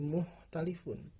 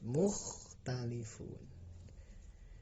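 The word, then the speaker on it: مُخْتَلِفُونَ: Hati-hati, kha harus terbaca jelas, tidak boleh menjadi mukhtalifun, tapi harus mukhtalifun.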